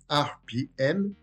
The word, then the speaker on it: ARPIEM: RPM, qui se prononce RPM, est un acronyme anglais, RPM, qui signifie Revolution per Minute ou Run per Minute, soit tour par minute.